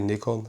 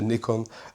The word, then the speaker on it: Nikon: system or Nikon equipment, or Nikon, how you say it? I say Nikon. In Holland say Nikon. Most of you settings say Nikon. But yeah, not a problem how you pronounce it.